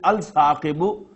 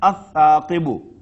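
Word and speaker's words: الثاقب: You will not pronounce it Al-Thaqibu, you will pronounce it as Ath-Thaqibu.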